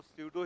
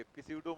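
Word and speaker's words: pseudo: एक्ट करेगा ठीक है इसको सुडो ही पढ़ेंगे इस उड़ो मत पढ़ेंगे ठीक है प्लीज साइलेंट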